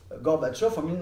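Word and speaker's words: Горбачёв: C'est en 1954 que Gorbatchev pour le dire avec la prononciation russe, Gorbatchev en 1954 va décider de rendre le territoire de la Crimée à l'Ukraine.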